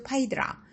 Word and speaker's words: Phaedra: 그의 두 번째 부인는 크레타섬의 공주 파이드라 영어식 발음은 페드라 이죠 그런데 건장하고 멋진 청년으로